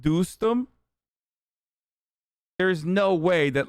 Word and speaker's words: Dostum: the taliban at times boston pronounced doostem there's no way that